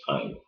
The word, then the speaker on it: Ayn: I always want to call her Anne, but it's Ayn.